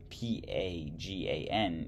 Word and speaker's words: Pagan: The kingdoms of, Pagan, P-A-G-A-N, is pronounced P-A-H-G-A-H-N.